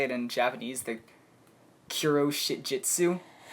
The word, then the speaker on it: Kuroshitsuji: When we get down to Black Butler, if I try to say it in Japanese, the Kuro Shitjitsu. Kuroshitsuji.